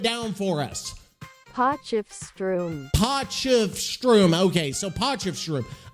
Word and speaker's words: Potchefstroom: we go here we go are we ready po of Strom po of Strom here slow slow it down for us PF Strom po of Strom okay so po of Strom I don't know